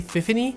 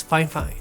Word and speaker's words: Fifine: a little editorial note in this video I say fify but the actual correct way to say this company's name is fine fine so whenever you hear